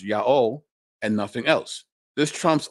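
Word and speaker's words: Ἰαώ: out of Greek the Divine name is correctly pronounced Yao and nothing else this Trump's all the professional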